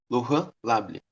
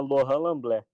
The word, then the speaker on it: Lorran Lamblet: Se pronuncia Laurent Lamblé.